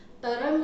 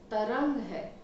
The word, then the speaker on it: तरंग: जैसे कि बंग को हम बंगा कहते हैं, तरंग को तरंगा कहते हैं, गलत है ये। बंग है, तरंग है, सिंध है, सिंधु नहीं है।